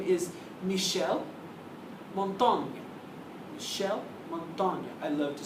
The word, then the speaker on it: Montaigne: So our next guy is another French guy, and his name is Michel Montaigne. Michel Montaigne. I love to say Montaigne almost as much as Machiavelli. Michel is spelled M-I-C-H-E-L, and Montaigne is M-O-N-T-A-I-G-N-E.